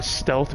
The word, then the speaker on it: Stlth: So it's Stealth. It's spelled actually STLTH.